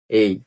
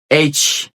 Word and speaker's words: H: আছে বেশি সমস্যা নেই এইচ এইচ আমরা অনেকেই বলি আমরা যারা আগে থেকে জানতাম আমরা বলি এই বাট এটার উচ্চারণ এই না এটা সঠিক উচ্চারণ হবে